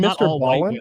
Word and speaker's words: Ballen: Have you ever seen Mr. Ballin on YouTube? The guy used to be a Navy. I hope I'm getting his name right. It's like Mr. and then Ballin. Ballin is spelled Ballen.